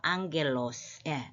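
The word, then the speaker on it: ἄγγελος: 그 아이가 안 맞아요 두 개가 겹쳐져서 이때는 그가 아니고 앙으로 발음하죠 앙겔로스 그래서 천사 그 복수형은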